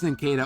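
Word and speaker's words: Nincada: It's Ninkata.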